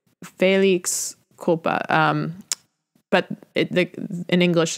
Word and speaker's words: felix culpa: check this quickly here Felix Koopa and I'm pronouncing that horribly because I am a Midwestern American Felix Felix culpa no faith it's Felix Koopa but it in English